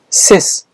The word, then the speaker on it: cis: circumvent circumnavigate Circ subscribe prefix c i s pronounced sis meaning on the side